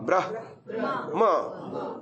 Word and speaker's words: ब्रह्मा: अब ठीक आ गया हम बिल्कुल हलंत हलंत आना चाहिए ह का पहले आना चाहिए मकार बाद में आना चाहिए लेकिन अभ्यास वशा मकार पहले हो गया और ब्रह्मा सभी